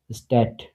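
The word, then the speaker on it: Stadt: ডেটে একসাথে থাকলে টর মতো উচ্চারণ হবে, যেমন স্ট্যাট, স্ট্যাট।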